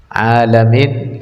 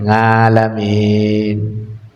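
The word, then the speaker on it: العالمين: Dibaca alamin, ngalamin. Ngalamin apaan? Ngalamin, dia kata ngalamin. Alamin dibaca ngalamin.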